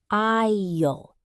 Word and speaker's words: aisle: The aisle. Pronounced aisle.